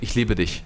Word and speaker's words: ich liebe dich: You always say, every American always says, ich liebe dich. They always say it with the sh.